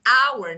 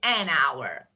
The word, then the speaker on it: hour: a consonant H but it sound o like hour not so H is pronounced like wowl so we say an hour so it depends the way actually how we